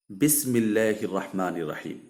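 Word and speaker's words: بسم الله الرحمن الرحيم: উচ্চারণের যেটা নাকি শুদ্ধ উচ্চারণ সেটা হবে বিসমিল্লাহির রাহমানির রাহিম।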